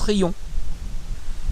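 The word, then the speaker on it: Riom: Alors ça s'écrit avec un M, mais ça se prononce Rion.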